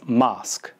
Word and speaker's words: mosque: the next word is mosque now this sounds sort of like the word mask which is something you